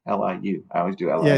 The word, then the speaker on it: Liu: in there too damn I keep spelling his name wrong L IU I always do yeah it's Liu yeah I've